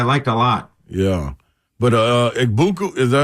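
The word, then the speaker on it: Egbuka: But Igbuka, is that how you say his name? Igbuka? The receiver? Yeah. Igbuka.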